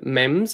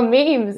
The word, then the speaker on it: meme: like you had a mems as going if i remember right oh memes yeah memes that's great years ago and i said no eamon it rhymes with um cream and then he said